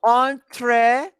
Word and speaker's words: entrepreneur: Okay, entrepreneur. But I know the writing, but I don't. I can't The know the pronunciation. pronunciation. I Yeah. didn't confident. Yes, Entrepreneur. it's a French word, so it's different.